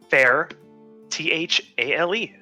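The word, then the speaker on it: Faerthale: So the Faer, fair, Thale, Thale, Fairthale.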